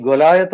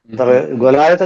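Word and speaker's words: Goliath: വാക്ക് വാക്ക് അതൊരു പേരാണ് നമ്മൾ ഗോലിയാത്ത് എന്നാണ് ഉച്ചരിക്കുന്നത് ഗൊലായത്ത് എന്ന് പറഞ്ഞാൽ മലയാളികൾക്ക് പിടികിട്ടില്ല എഴുതുന്നത് ഗോലിയാത്ത് എന്നാണെങ്കിൽ ആ അത്തന്നെ ഇംഗ്ലീഷിൽ എഴുതുന്നത് ഗോലിയാത്ത് എന്നാണ് ഇംഗ്ലീഷിലെ പ്രൊണൗൺ യഥാർത്ഥ ഇംഗ്ലീഷ് ഉച്ചാരണം ഗൊലായത്ത് എന്നാണ് മലയാളത്തിൽ കേരളത്തിൽ അത് കേരളത്തിലെ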